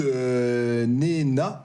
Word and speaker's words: Nena: On écoute Nena, ça se prononce comme ça ?